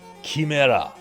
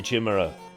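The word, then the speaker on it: Chimera: Kimera, it's the official pronunciation here. Kimera. I say chimra.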